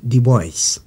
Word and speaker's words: Du Bois: africain de la diaspora son nom s'écrit du bois ça se prononce du bois il est né vers